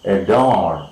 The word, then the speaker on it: adore: We have adore, adore, A-D-O-R-E, adore, adore, right, adore, okay, adore, primary stress is marked on the second syllable.